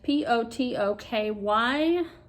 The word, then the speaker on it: Potoky: Now, you guys might recognize this is a Potoki stand, or Potoki, I don't know how to pronounce it. It is Potoky.